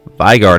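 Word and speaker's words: Veigar: Vigar, not a Vigar. A Vigar. Not a vinegar. Vigar. A Vigar. I got a Vigar early game, decided to take that into an Elderwood mage comp, because Vigar gets stronger as the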